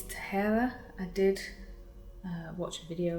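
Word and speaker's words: Tahereh: which is this Furthermore by, I believe it's Tahara. I did watch a video of hers on how to pronounce her name. So Tahera Mafi.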